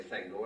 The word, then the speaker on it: Thengel: recordings of Professor Tolkien, you will find that he says Theoden, Thengil's son, which sounds to me much more acceptable. So I wrote to Christopher and said, you said it's Thengel, your father said Thengel. Do you mind if we say Thengel?